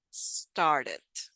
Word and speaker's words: started: Many students have difficulties pronouncing the initial S, especially ST. So remember, it's not started. That's not. It should be sta, sta, started, started, started.